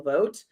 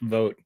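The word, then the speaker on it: Vought: Trump's om nominee Russell vote uh the irony that his last name is pronounced vote yeah yeah I thought it was pronounced vot this entire time but it is not it is vote which vot seemed more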